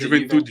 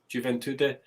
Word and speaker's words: Juventude: Yes, because it's Juventude, isn't it? How do you say that team? Is Juventude. It Juventude, and then Bahia.